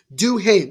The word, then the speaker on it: Duhaime: How it's pronounced? Do him. Or it's do him. That makes more sense. Duhaime.